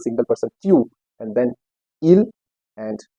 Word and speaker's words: il: And the spelling for il is IL and for L is ELLE. So the pronunciation is il for he, il and L.